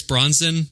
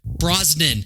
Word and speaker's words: Brosnan: order like the cheesy pierce bronzon movies did i say it right brosnan god damn um they